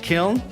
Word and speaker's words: Kiln: That's K-I-L-N, as in gnarly, for you who are old enough to know what that word is. I know gnarly is spelled with a G, but still it's the sound I was going for.